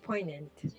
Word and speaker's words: poignant: Also, Mark said silent G and poignant.